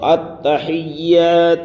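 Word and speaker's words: التحيات: غلطیاں ہوتی ہیں۔ تو التحیات للہ والصلوات والطیبات، التحیات للہ والصلوات والطیبات۔ التحیات، یہاں پر اکثر و بیشتر حضرات کی غلطی ہوتی ہے، التحیات پڑھتے ہیں، تو یہاں پر تشدید ہے یا میں، التحیات، التحیات للہ والصلوات،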